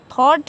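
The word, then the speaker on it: thought: थॉट है तो जी एच साथ में आया है, इससे पहले वॉवेल है तो जी एच हमारा क्या रहेगा साइलेंट रहेगा तो इसको थॉट पड़ा जाएगा।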